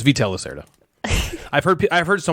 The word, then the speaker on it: Vital Lacerta: okay that's my number three vital lacerta it's veto locerda i've heard i've heard so many people pronounce his name incorrectly phytolacia that's how they say well that's a little